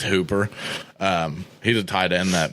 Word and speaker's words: Hooper: tight end for the Falcons Austin Hoppa that's how I like to say his name its Hooper he's a tight end